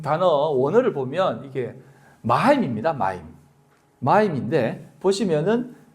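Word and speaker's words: מים: 마임.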